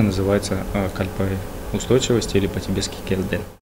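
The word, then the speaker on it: སྐལ་ལྡན: проследить смысл данного слова, и оно произносится «келден», и переводится с тибетского как «устойчивая кальпа».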